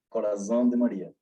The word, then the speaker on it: Coração de Maria: Yeah, the pronunciation in Portuguese, you know, Coração de Maria.